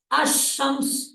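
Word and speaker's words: الشمس: दो तरीके क्या है एक लफ है अल कमर अल कमर लाम साउंड में आया है अल कमर ठीक है और दूसरा है अमस लाम साइलेंट हो गया अमस सीन पर तद आ गई है अमस अल कमर अमस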